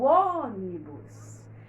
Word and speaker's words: ônibus: essa aqui a antepenúltima a gente diz vou pegar o ônibus então o demora mais que é demais OK ela então é uma palavra proparoxítona por quê Porque a